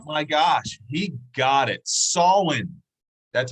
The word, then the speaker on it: Samhain: troy trigger boo my gosh he got it solon that's how you pronounce it sawin um the celebration of the solon uh people